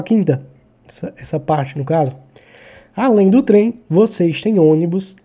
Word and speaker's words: além: Onde é que está a sílaba tônica? Eu falo além, eu falo além. Eu falo além. O lem é a sílaba tônica.